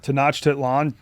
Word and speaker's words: Tenochtitlan: Tenochtitlan, Tenochtitlan, Tenochtitlan.